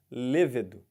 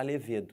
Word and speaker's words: levedo: Levedo, tá? Aquele componente da cerveja. Não pode falar levedo, tem que falar levedo.